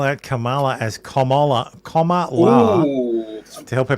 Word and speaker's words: Kamala: have her T teleprompter spell out Kamala as commala commala to help her pronounce her name the Houston rally I'm on